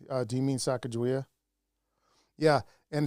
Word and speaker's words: Sacagawea: Do you mean Sacagawea? Yeah, and it's actually pronounced. It's actually probably pronounced Sagagaway. Sagagaway, yeah. Yeah, which meant little bird. She was skinny. That's what they said. That's how to say it.